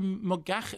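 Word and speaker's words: Moggach: and Captain Corelli, from the novel by Deborah Mogach. Am I pronouncing that correctly? Mogach, yes, Mogach, is it fine?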